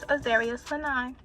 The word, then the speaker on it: Azaria Sanaai: My name is Azaria Sanaai. I notice I never say that, and y'all probably don't know how to pronounce my name, but yeah, it's Azaria Sanaai.